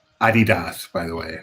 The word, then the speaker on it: Adidas: It's pronounced Adidas, by the way, not Adidas.